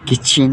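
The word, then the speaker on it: kitchen: ये किचन है ना, तो टी जो है यहाँ साइलेंट रहेगा।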